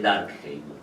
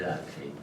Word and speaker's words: Durkheim: En esta perspectiva, podríamos caracterizar nuestra época explotando el equívoco que permite la pronunciación en inglés del apellido de Durkheim, porque Durkheim admitiría con casi idéntica pronunciación también la escritura dark, oscuro, Heim.